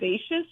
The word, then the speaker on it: Vaites: You can also follow at Karen Vaites is how you say her last name, Karen